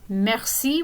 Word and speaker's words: merci: would know from english we would call this i in english but in french it's pronounced as e so some example words would be kiss merci will be a great